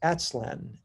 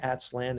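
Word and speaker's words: Aztlan: called more uh is more notably known as atslan and there's a actual wikipedia page on atslan it's spelled a t z l a n and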